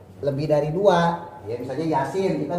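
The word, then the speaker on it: يس: Yasin. Nah, yanya ini mad harfi mukhafa. Ynya nih mad harfi mukhafa. Ya, sinnya ini mad harfi musyba. Kalau mad harfi musyba dia 5 sampai 6 harakat.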